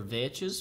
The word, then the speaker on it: Vechs: I outthought Vechs, or Vechs, for those of you who like to pronounce his name correctly.